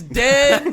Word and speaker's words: Den: His name is Den. Don't get his dog girlfriend's name wrong.